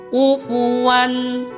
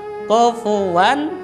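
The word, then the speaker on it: كفوا: benda adalah UV one-one UV one Who v-one tidak boleh dibaca dengan coffee one atau tidak boleh juga dibaca dengan UV one pakai yang benar adalah UV one Wah ada kemudian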